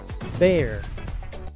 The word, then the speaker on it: bear: Bear. Esta palabra se pronuncia bear porque la e se pronuncia como e, la A es muda, después se pronuncia la R.